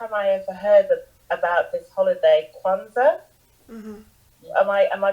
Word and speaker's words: Kwanzaa: first time I ever heard about this holiday, Kwanzaa. Mm-hmm. Am I pronouncing it correctly? Yes. Yes, Kwanzaa.